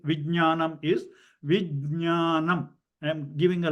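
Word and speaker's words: vijñāna: Okay, there's no ga, that is nya. I don't know whether you can see my nya, nya, ja, nya together, nya. So vijnanam, jnanam. So it is not jnanam. Jnana means you are not pronouncing the ja part.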